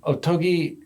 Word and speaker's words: Ottogi: article is called overzealous otogi um otogi uh in the more American pronunciation uh is a brand